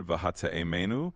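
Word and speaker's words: והטעימנו: Vehatiemenu mipardes rimonim. Okay, what does it mean? How do you say this word? Vav, hey, tet, ein, yud, mem, nun, vav. Absolutely. Let's break that down. The word vahate'emenu that you spelled out, vav, he, tet, ayin,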